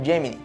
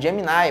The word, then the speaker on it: Gemini: Assim, o projeto Gemini, que inicialmente era pronunciado Gemini, mas depois de um tempo passou a ser pronunciado Gemini, foi aprovado pela NASA em dezembro de 1961.